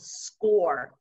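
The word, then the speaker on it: Scoir: that the district has adopted and it's called score um it's spelled s-c-o-i-r and what this is is basically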